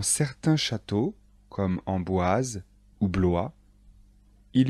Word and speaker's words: Blois: chenonceaux et le château d'amboise attention de bien prononcer les noms de châteaux répétez après moi chambord le château de chambord blois le château de blois chenonceau le château de